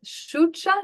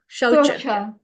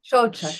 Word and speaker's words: Shaucha: Is this Shucha? Is that the correct pronunciation? Again? Yeah, Shaucha. Shocha, thank you.